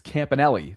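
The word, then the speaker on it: Campanile: And West says, "It's Campanelli." Thank you Campanelli. Thanks for the pronunciation guide there in real time.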